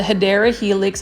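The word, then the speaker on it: Hedera helix: then obviously we've got the hedra helix or the hadera Helix English ivy that's how you would pronounce it correctly but as you can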